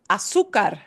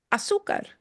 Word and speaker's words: azúcar: And you'll notice when you see a little accent mark, it doesn't mean you pronounce the letter differently. It just means it's needing to show you for one reason or another that that is the syllable you punch. Because it's breaking a rule, don't worry about the rule, okay? It just means, oh, I need to punch that sound harder than the other sounds.